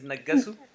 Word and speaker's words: Negesu: Negesu, I think that's the right way to say the name is Negesu.